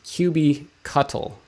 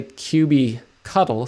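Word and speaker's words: kubectl: the official one is qb cuttle like as in a cuttlefish some people say qb cuddle some people say cube cuddle like you're cuddling up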